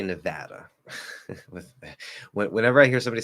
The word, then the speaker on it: Nevada: Is it Nevada? Sorry, Nevada or Nevada? Depends on the speaker. Remember, technically, natives are never wrong. So they just might not be standard. How do I say it? I say Nevada.